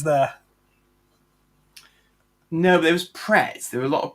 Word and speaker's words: Pret: No, but there was Pretz. There were a lot of Pretz and Starbucks, obviously. They do actually. Are you pronouncing it right? It's Pratt's. No, it's Pret.